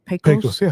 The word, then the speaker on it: PAS: you're doing now with PAS operating and and how do you say it? Pos. You say POS. I say Pas, you know, I'm from West Texas, so I say Pas operating.